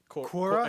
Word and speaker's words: Quora: Quora? It's Quora.